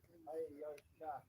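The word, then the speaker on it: Heyoka: Hayoka. Hayoka. 3 syllables.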